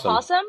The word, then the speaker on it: opossum: Okay, and then we have Bo, the opossum. Okay, y'all, this is serious stuff. Did you say opossum? Isn't that how it's pronounced? That's how you call it. No. I know it's possum.